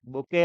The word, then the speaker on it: bouquet: बुके of flowers. क्या होता है बुके की स्पेलिंग?